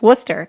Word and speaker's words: Worcester: It looks like Worcestershire. Worcestershire. Worcestershire, but it's Worcester. The first time I saw a sign that said Worcester, I was like, where?